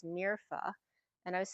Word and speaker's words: Mirfa: It's actually pronounced Mirfa, and I was spelling